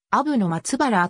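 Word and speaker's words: 阿武の松原: 六之助 hoge 取得本ハギではアブの松原と読むこのアブの松原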